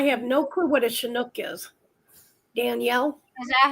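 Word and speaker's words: Chinook: we get I have no clue what a shinook is Danielle is that how you pronounce it shinook yeah okay girl you you got to give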